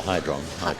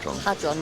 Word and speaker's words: Hadron: Yeah, Hydron. Hadron, not Hydron.